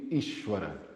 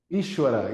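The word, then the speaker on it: ईश्वर: the book is is some people say is but the the pronounce more close would would be ishwara okay ishwara is the master the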